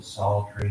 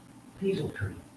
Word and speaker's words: psaltery: And in the end of Daniel, middle of Daniel, when Nebuchadnezzar has the sound of the psaltery and the trigon and stuff, one preacher pronounced it peasel tree.